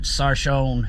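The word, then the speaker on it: Sarchione: I'm at Sarshone is how it's pronounced, Sarshone Ford.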